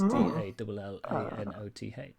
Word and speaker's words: Dalinoth: Taymalis, and Dalinoth is Dallanoth.